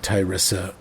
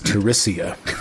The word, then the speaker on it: Tiressia: you've heard of uh Ty Isa and in fact you you know that I mispronounced her name her name is teresia whoops excuse me uh narrator